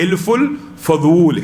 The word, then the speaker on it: حلف الفضول: حلف الفضول. حلف الفضول. یہاں پہ بھی اعراب اور تلفظ کی غلطی ہے ہمارے اردو زبان میں سارے حلف الفضول.